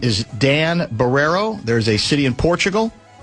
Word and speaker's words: Barreiro: My name is Dan Barrero. There's a city in Portugal named Barrero and it is spelled the same way.